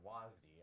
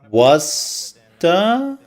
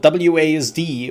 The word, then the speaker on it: WASD: actually pronounce this, but I've always called it WASD. Other people call it WASDA. Some people call it WASD. We need a pull-up stat. Wasta? Nobody calls it Wasta.